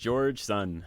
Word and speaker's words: Georgeson: name george son just george son george sons boots george son that's just like it's spelled then george son yeah